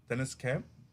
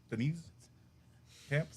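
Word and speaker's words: Deniz Camp: have the writer is Dennis Camp Denise camp theise Camp I said it right the second time that's your one Mulligan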